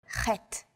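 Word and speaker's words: חית: Three of these letters are pronounced deep in the throat. These may feel unusual at first, but are fun to say once you get the hang of them. Ein, chet.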